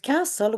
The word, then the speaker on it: castle: And within the word castle, we've got a silent letter.